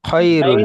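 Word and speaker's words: خير: হু খিরুল আইন এসেছে, খিরুল খিরুল নয় খয়রুল। খায়রুল আইন ইয়া জবর আয় হয়, আইন ইয়াসের খৈরুল কি হয়?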